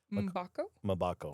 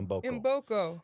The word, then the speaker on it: Mboko: Vicky, pronounce her last name for me. Mbako? Mbako. Mbako? Mbako. Mboko.